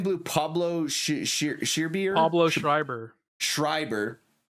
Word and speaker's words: Pablo Schreiber: Pablo Schreiber.